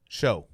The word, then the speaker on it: Shough: Yeah, I have not seen a C or a K or a CH. Yeah, I don't. It's like OUC, or no, it's OUGH. Yeah, SHOUGH. Show. It's show or sha.